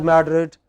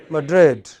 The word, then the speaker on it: Madrid: So in English it is pronounced not as Madrid but as Madrid.